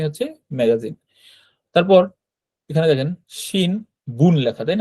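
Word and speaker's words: 新聞: তারপর এখানে দেখেন শিন বুন লেখা, তাই না? শিন বুন মানে হচ্ছে সংবাদপত্র, কিন্তু এটার উচ্চারণ এই নয়ের উচ্চারণটা ময়ের মতো হয়।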